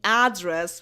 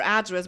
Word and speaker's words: address: stuff like that that people stopped saying address with this accent with the stress on the first syllable uh and this is the noun technically I think like give me your address but you can also